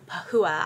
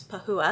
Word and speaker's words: Pahua: I did learn through the course of reading the book, you pronounce her name Pahua. I was like, is it Pahua? I don't know. It's Pahua, in case you're wondering.